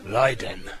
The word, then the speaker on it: Raiden: Or as it's supposed to be pronounced, Raiden.